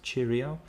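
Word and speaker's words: Cirio: I think it's called Cheerio but it's c i r IO and the CI is uh pronounced cha so it's chirio um and they they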